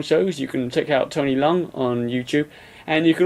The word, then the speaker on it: Leung: So, do I say Tony Leung? Because I don't know how to say it. Cantonese Tony name. is fine. Yeah, Leung. Tony Leung.